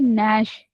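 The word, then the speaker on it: gnash: आपकी दूर हो जाएगी कि इसको हम क्यों कनश कनश को नैश क्यों पढ़ते हैं और नाइफ को के क्यों साइलेंट करते हैं।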